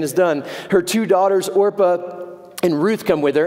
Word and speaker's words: Orpah: did you know that oprah winfrey's real name is orpah it's just that people began mispronouncing it so much that she just adopted oprah it's true look it